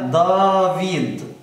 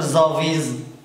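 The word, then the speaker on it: ⲇⲁⲩⲓⲇ: الاعلام في الاسماء بس يبقى هنا دافيد ما اقدرش اقول زافيز غلط طبعا دافيد اللي هي داود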